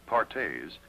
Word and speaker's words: Perthes: crippling disease known as Perthes pronounced pares was the demoralizing ailment